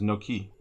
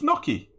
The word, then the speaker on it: gnocchi: I pronounce it as no-ki to piss my wife off. No-chi. It's Gnocchi. It is Gnocchi.